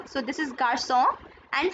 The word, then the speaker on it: garçon: If this was written this way, Garcon without cedille, this would be pronounced as garcon. So cedille produces a sound s. So this is garçon and français.